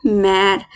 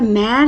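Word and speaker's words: mère: तो जो left sound है, लेफ्ट टिल्टेड जो साइन है, वो थोड़ा सा ज़्यादा, जो हमारा ये वाला था ना, ई वाला जो राइट टिल्टेड था, ये हमारा हल्का सा अपर साउंड देता था। पर मैर जो ई वाला ये सॉरी एक्सेंट घाव है, वो हमारा थोड़ा ज़्यादा साउंड लेगा, जैसे मैर मैर।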